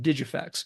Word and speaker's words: DigiFX: as digifix software spelled D G FX with pronounced digifix and I got that from some promotional videos